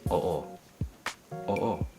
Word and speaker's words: oo: both bows in Tagalog in Tagalog you pronounce literally every syllable or letter that's there so oh it's kind of a space in between the O's so oh oh oh